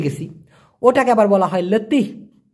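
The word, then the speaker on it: letih: ঘন আসছে, হাফিয়ে গেছি, ওটাকে আবার বলা হয় লেতি। লে তি, উচ্চারণটা হবে লে তি।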